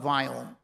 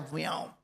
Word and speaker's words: Viome: I started a company called Viome. That's V as in Victor, I-O-M-E. And someday I'm going to tell you a secret. Indians cannot pronounce the word we.